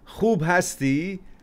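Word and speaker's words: خوب هستی: There's a little, I guess, challenge in pronouncing khe in your language. That's why you say Khub hasti instead of Khub hasti.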